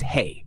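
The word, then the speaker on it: hej: to greet someone one hello in Swedish is hey pronounced like hey two good morning is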